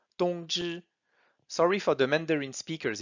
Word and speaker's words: 通知: So T-O-N-G-Z-H-I with the first tone on O and I. And finally the pronunciation 通知.